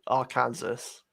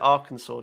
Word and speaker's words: Arkansas: more people comment about the way you say our kansas what what but it says arkansas it's i know but they pronounce it arkansas don't they is that is that correct it